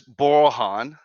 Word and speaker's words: Borohan: who don't know um the name is borohan Bor or Han if you pronounce it or if you can't